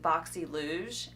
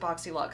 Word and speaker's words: BoxyLuxe: for the longest time I have called it boxy luge and I feel like a complete redneck um I don't know if that's how they were pronouncing it at the time and that's why I thought it was pronounced like that or if that's just how I read it now I'm seeing everybody pronounce it boxy luck so I'm gonna unbox